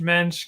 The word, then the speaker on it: Moench: for people to just think of the yish mench because helps people remember it better helps people pronounce it correctly it's a very hard name